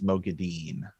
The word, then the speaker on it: Moghedien: I think it's Moghedien because there's no Didion in there. So Moghedien, that's what I meant to say, could not have located where the channeling came from.